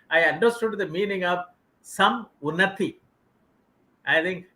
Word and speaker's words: Samunati: understood the meaning of some unnati i think rather than pronouncing as an english word it should be pronounced as two words it gives a great